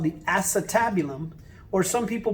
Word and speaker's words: acetabulum: cup is called the acetabulum or some people pronounce it acetabulum okay it looks like the word ace tab you lum altogether acetabulum now acetabula means vinegar